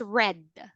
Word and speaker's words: read: It now read as, you can now read this as read.